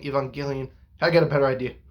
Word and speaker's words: Evangelion: to be people going it's evangelion because uh it comes from the word evangelist so evangelion evangelion i got a better